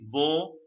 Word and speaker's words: beau: And what I'm saying is, newcomers, have you made a note of there is a difference between bo and bon, right? The sound, the pronunciation, right?